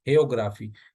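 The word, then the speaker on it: hagiography: हेयोग्राफी, ये जी साइलेंट आएगा पहले वाला जो है, ये जो बायोग्राफी से ही ये वर्ड निकला है।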